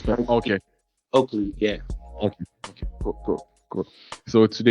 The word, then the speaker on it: Oakley: no, like Spike Lee. Okay. Oakley, yeah.